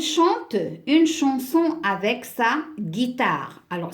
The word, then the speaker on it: guitare: une chanson avec ça guitare alors si je mets uniquement la lettre G je vais la prendre en Sagittaire donc je dois mettre j'ai eu c'est ma famille aime